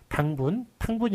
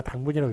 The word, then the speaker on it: 당분: 그 다음에 원래 당으로 읽어야 되기 때문에 탕분이 아니라 당분이라고 읽어야 되는 게 맞는데, 그렇지만 사탕, 설탕 할 때는 탕으로 잘못 읽는 것을 맞게 했습니다.